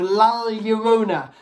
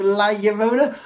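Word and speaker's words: La Llorona: called the curse of lala yorona now i may be pronouncing this wrong um i am aware in mexican two elves makes like a yes sound so curse of la yarona i'm not very good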